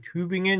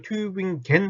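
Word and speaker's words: Tübingen: 교엔 혹은 뭐 도시이 튜빙 앤 이런 것도 있어요 튜 튜 빙엔 튜빙 앤 이것도 튜빙겐 하지 마시고 튜빙 앤 팅 앤 팅 겐 아니에요 이런 것들 발음을 조금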